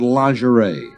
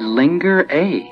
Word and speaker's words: lingerie: Today you've got lingerie. Oh, dear neighbor. I think you've made a mistake. What? I said linger A. You mispronounced it.